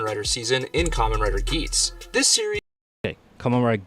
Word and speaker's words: Geats: Okay, it's pronounced Geats.